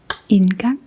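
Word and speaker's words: indgang: So, this time we're going to put that word together in a sentence.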